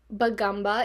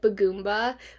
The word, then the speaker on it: Bagumba: The real pronunciation is Bagumba instead of Bagumba, like what I've been saying.